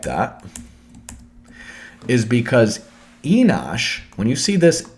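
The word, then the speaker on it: אֱנוֹשׁ: like that is because Enosh, when you see this N at the beginning, N means like high priest or chieftain, okay? Ush, U-S-H, so remember, there's no vowel here, so Enosh could be Enush.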